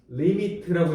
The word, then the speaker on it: lim: 일단 요 책에 보면 LIM이라고 하는 기호가 나와. 읽을 때 뭐라고 읽어? 리미트라고 읽습니다. 알겠죠? 원래 LIMITEDA 알겠죠? 리미티드 이렇게. 그래서 리미트라고 읽고요.